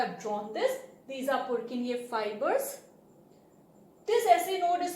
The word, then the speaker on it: Purkinje: Now I am pronouncing it as Purkinje because general pronunciation वही है, otherwise the true pronunciation is Purkinje fibers. But जैसे आपको comfortable लगे आप कर सकते हैं, because what is our main aim? To gather knowledge. Pronunciation differ करते from country to country, does not matter.